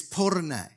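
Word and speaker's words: πόρνη: your information, the ancient Greek for prostitute is porne.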